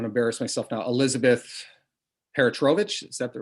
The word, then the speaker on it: Peratrovich: Elizabeth Peratrovich, is that the right pronunciation? Yeah, Peratrovich.